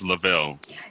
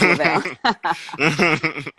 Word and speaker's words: Lovell: Yes, it is Lovell. But you know what? Most people think about the astronaut Jim Lovell, spelled the same way, so they usually say Lovell, yeah.